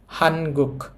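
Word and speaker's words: 한국: হানগুক।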